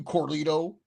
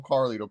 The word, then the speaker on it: Carlito: Yeah, I'm talking to you, Corlito. Freaking mispronouncing Corlito. it. Yeah, Corlito. Did not call him Carlito.